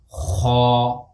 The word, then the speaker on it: خ: And the way to pronounce is lift your deepest part of the tongue up and fill your mouth while pronouncing these letters. For example, this is Kha, Kha, Akh. What I am doing is I am lifting up my deepest part of the tongue and pronouncing this letter with filled mouth.